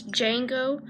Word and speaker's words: Django: His name is Django, D-J-A-N-G-O, but the D is silent.